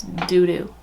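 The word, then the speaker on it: Dudu: It's D-U-D-U. Okay, it's doo-doo.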